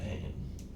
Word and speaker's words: Hayne: Or Matt Hain, that's how it's pronounced though.